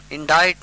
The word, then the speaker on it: indite: Indict means to charge, I-N-D-I-C-T. I-N-D-I-T-E means to compose in words, indict. Both are pronounced indict.